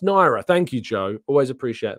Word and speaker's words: Nwaneri: very much appreciate your time as always it's pronounced naira thank you Joe always appreciate that um always